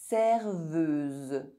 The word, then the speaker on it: serveuse: EU is pronounced E if followed by a Z sound. Z like the little B. Z. Serveuse.